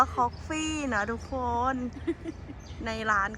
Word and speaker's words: Koffe: เลย จ้า ทุก คน คอกกี้ คอฟี่ หรือ คอกกี้ เอา ดี ๆ อ่าน ว่า คอก ฟี่ นะ ทุก คน ใน